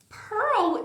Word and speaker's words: pearl: Pearl e girl é igual. Olha o símbolo, gente. Olha isso. Só muda o G e o P. É only G e P. Olha a escrita. Totalmente diferente. Mas a pronúncia é igual.